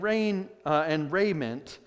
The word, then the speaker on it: raiment: It's not raiment, it's raiment.